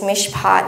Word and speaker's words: mishpat: But anyway, I don't speak Hebrew. I checked on the internet and apparently it is mishpat and tzedakah.